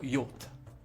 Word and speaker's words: yacht: ce contrebandier donc un là c'est un des mots les plus difficiles à lire en français parce que ça vient probablement de l'anglais du coup les règles de prononciation sont différentes donc inutile d'essayer de lire différemment on va lire tout simplement y même si on a envie de lire autrement ok donc un contrebandier c'est